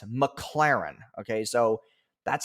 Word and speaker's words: McLaren: shows that's worth money is his car the McLaren he's made like a thousand shorts about how